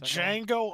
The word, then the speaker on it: Django: up Tyler yeah did Django Unchained the D is silent also another movie with